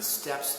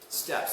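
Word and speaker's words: steppe: into china from beyond steps so that notice how step is spelled we believe two peas in an east we're not talking about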